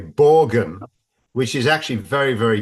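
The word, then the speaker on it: Borgen: TV series um called I'll pronounce it the uh English language way borgan which is actually very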